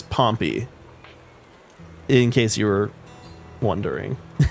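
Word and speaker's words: Pompey: it's not the so Pompei is the city the name is pompy in case you were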